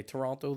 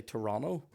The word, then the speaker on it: Toronto: i soon realized that they don't say toronto they say toronto toronto i'm like what kind of town how far up your own hole are you when you're doing silent letters do you know what i mean i'm from belfast i'm like belfast it's a hard t toronto get used to it [